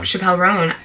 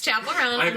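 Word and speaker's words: Chappell Roan: I said her name wrong. That's so funny. Yeah. I said Chappelle. Dave Chappelle Roan. It's Chapel Roan.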